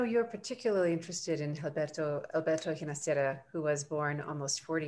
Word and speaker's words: Ginastera: Ginastera and he toward the end of his life preferred the Italian or Catalan pronunciation of his last name, Ginastera. Thank you, Gina. Thank you. Ginastera. No, it is Ginastera in Spanish.